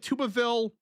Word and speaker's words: Tuberville: Actually, anyways, not not really, but um Tuberville is the way it's pronounced. I grew up my whole life hearing Tuberville, not this. Tuberville every single day of my life.